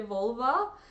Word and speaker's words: Volvo: I always laugh at Volvo because if you say Volvo in Russian, like words that end in O are pronounced A, like Kostka instead of Costco. So when you say Volvo, you say Volva, which makes me, I love that.